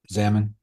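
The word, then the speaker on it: Xaman: Examin Xamon. Examin. Never heard of it personally. So, Zamin. Zamin. Like Zanadu.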